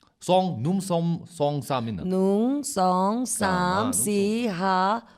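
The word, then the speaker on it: หนึ่ง: Nung. Nung. See, I was Nung. close. They're close. Nom is like Okay, nom so mistakenly nung, nung sang som num sam song num song sam in. Nung, song, sam, nung, si, ha, hok, jet, pet,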